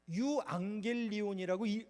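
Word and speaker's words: εὐαγγέλιον: 또 영어로는 가스펠이라고도 하는데요 원어는 헬라어 넘겨 주시죠 어 어 유앙겔리온이라고 발음합니다 이상하게 써놨지만 그 헬라어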